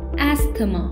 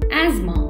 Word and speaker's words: asthma: often mistakenly pronounced as ask the mom remember the s in this word is pronounced as e and the th are silent ends the correct pronunciation of the word is asthma towel is a piece